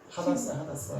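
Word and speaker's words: הדסה: 그러면 여기서 이 화석류는 화석류의 히브리식 발음은 뭘까? 하다사.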